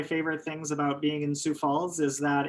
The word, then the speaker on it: Sioux Falls: Falls, also it's pronounced Sioux Falls. I know there's an X in Sioux, but it's silent.